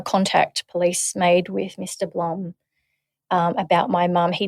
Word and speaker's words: Blum: Blum or Bloom if you are it's it's spelled B L U M. So, plum plum. But over in Luxembourg and Belgium, it's actually pronounced as Bloom.